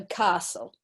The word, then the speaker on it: castle: very good guy so Castle yeah completely silent t-there okay what about this